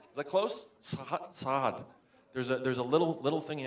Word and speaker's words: Saad: It's GAD, it's a Hebrew name, and SAAD, it's a guttural ayin. But of course, typically people who don't speak Arabic or Hebrew, you just extend the A, it becomes SAAD.